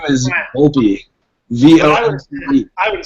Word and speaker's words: Volpe: How do you pronounce your last name? Does it matter? My last name is Volpe.